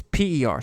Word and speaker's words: Per: I think, actually, I might be pronouncing this wrong. It's P-E-R, so Per, rather.